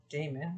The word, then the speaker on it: daemon: However, the word demon originates from the word daemon, not like Matt Damon, but Damon, which is pretty much pronounced demon again.